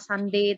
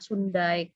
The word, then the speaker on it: Sunday: FV intonasinya, bukan intonasi, tepatnya pronunciation, masih banyak sekali yang salah. Ya, FV, kamu masih banyak yang salah. Sunday tadi contohnya, Sundai kamu bilang.